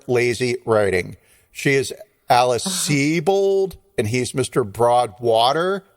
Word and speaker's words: Sebold: name is spelled sub old s-e-b-o-l-d but it's pronounced c-bold and i had to google that to make